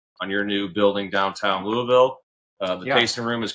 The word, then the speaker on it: Louisville: Congratulations on on your new building downtown Louisville. Uh the tasting room is currently open. Like I said, last Thursday, I believe, is when they did the ribbon cutting. And and so if you're down in Louisville, Kentucky, go check them out.